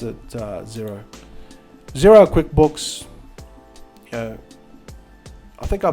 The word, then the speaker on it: Xero: actually yet it's actually yxo but they just pronounced it zero zero QuickBooks I think I bought my last